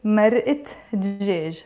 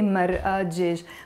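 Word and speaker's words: مرقة دجاج: Mar'a or mar'a, you see, it's also one of the words that have a te marbuta. So it's mar'at djej. I will not say mar'a djej when I'm mentioning it's a stock of what? It's chicken stock. So I'm saying a stock of chicken. That's why we say mar'at djej.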